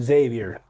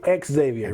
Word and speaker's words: Xavier: lazy about it like don't call me Xavier I say ex Xavier right yeah Xavier right